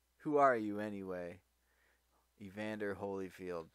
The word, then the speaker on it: Holyfield: are you anyway Evander Holyfield came the reply no you're not your Hollyfield how we argued purposely mispronouncing the the last name and then Holyfield shrugged